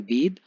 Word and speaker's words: bathe: बेद जो वर्ड है BATHE, उसको हम प्रोनाउंस करते हैं बेद, और BATH जिसको हम बाथ प्रोनाउंस करते हैं।